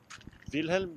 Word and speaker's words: Wilhelm: You just pronounce it V. Wilhelm, the name.